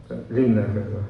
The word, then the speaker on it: Liebknecht: Liebknecht, ha sido Roberto el que me ha enseñado a pronunciar el apellido.